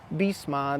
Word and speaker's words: Bisma: Bisma, this is how you pronounce this, and the street overall looks like this one.